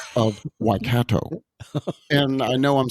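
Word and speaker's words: Waikato: I would say the odds are incredibly high because I did Google the pronunciation of Wicato and I know I'm saying it correctly.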